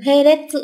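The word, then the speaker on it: 並列: Trường hợp đọc theo âm ôn thì các bạn sẽ nhớ cho mình cách đọc là He trong từ Heretsu chẳng hạn.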